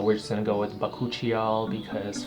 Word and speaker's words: Bakuchiol: Again, Bakuchiol is actually pronounced Bakuchiol, but we're just gonna go with Bakuchiol because phonetically it just reads as Bakuchiol.